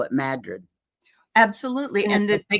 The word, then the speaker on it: Madrid: Only the locals call it Madrid.